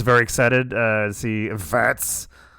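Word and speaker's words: Wirtz: Um, I was very excited uh to see vets. Vets. Vets. That's how you say it. The W is a V sound.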